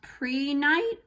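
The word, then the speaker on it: prehnite: do i pronounce this i think it's pronounced pre-night um but it correlates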